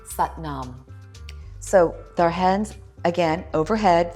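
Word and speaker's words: Sat Nam: looks like satam but it's pronounced sat as in but and Nom as in calm sat Nom so our hands again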